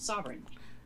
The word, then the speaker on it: sovereign: Sovereign is 3 syllables, and there's this GN thing that... you don't pronounce the G.